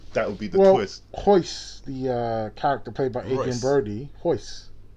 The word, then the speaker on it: Royce: Hoyce, the character played by Adrian Royce. Brody, Hoyce. I thought it was Royce. I'm pronouncing it the way Hoyce Gracie says his name, okay?